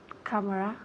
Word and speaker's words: camera: Camera. Good. Okay, repeat again. Camera. Okay, very good. Camera. Camera. Again, ¿dónde recae el énfasis? En la primera sílaba.